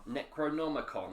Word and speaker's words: Necronomicon: the necro what is it the ne Necronomicon Necronomicon that's it I can never pronounce it right when I'm trying to CL